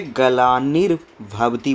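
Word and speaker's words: ग्लानिर्भवति: यदा यदा ही धर्मस्य गला निर भवती यह जो रेफ है इसका उच्चारण बीच में आता है तो वह अगले शब्द पर यह पड़ता है तो इसलिए गला निर भवती बोलते हैं अगर हम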